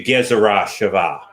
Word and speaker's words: Gezerah Shavah: And so this sort of technique was around, and I need to introduce you to Gezerah Shavah. I'm pronouncing the W as a V because King David was not King Dawid.